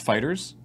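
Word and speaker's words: FighterZ: or or maybe somebody is not it's officially pronounced fighters so it's Dragon Ball fighters yeah huh well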